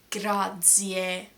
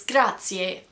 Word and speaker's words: grazie: Like in grazie. I would never say grazie. It's grazie.